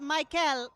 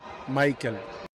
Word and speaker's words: Maikel: It's not Mykel, it's Maikel.